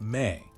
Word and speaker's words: me: The Sumerians had a sophisticated concept called mi, pronounced may, which is notoriously difficult to translate.